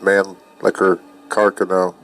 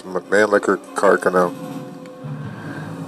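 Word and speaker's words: Mannlicher-Carcano: I held a model, exact model as the manlicker caro. And that's how you pronounce it, by the way. Everybody pronounces it wrong. It's not man liquor caro carcano. It's manl liquor caro.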